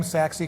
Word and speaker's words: Saxy: a really creative name, Saxy Construction. You know, right. Rhymes with taxi.